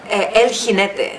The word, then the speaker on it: El Jinete: And how do you say? El Jinete. Like an H. El Jinete.